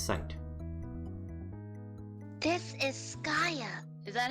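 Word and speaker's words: Skaia: This is Skaya. Is that how you pronounce it?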